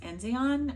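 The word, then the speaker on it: Enzian: have from octopus fluids I think it's pronounced enzon e n z i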